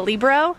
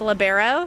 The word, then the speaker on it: libero: Yeah, I think from a funny aspect, I think people like to call the person in the different color shirt a libero, and it's actually pronounced libero, so just giving some insight in there.